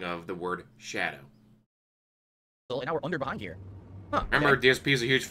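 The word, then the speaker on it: Scadu: went through the castle it's not scoo it's Shadow they're using the very very old English spelling of Shadow which I didn't know I pronounced the same way but because I'm a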